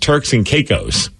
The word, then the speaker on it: Turks and Caicos: Oh, and it's apparently pronounced Turks and Caicos. Oh, Turks and Caicos.